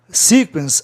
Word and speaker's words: sequence: Veja bem, sequence, a palavra termina em vogal duas consoantes, como é no fim.